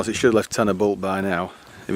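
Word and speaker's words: Dduallt: It's spelt Ddaullt, but we pronounce it Ddaullt in Welsh.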